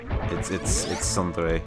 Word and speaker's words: tsundere: Actually it's pronounced Des, and it's Desu and Sundare. It's Sundere, and also Yandere, and Himedere, that kind of thing.